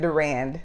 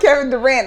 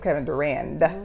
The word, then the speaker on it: Durand: Kevin Durand is Proximus Caesar. Not Kevin Durant. Kevin Durand. Durand. It sounded like Kevin Durant almost. You're like, no, it's not Kevin Durant. It's Kevin Durand.